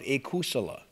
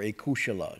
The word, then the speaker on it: akusala: Now, this unskillful is a translation of akusala, or akushala, depending on how your pronunciation, but meaning that which is not kusala.